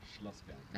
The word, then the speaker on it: Schlossberg: How do you pronounce it? Schlossberg.